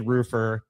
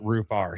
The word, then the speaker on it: Roofr: We'll figure out everything else later, but the correct pronunciation of the company directly from the CEO is Rufar. No, I'm just with you. It's roofer.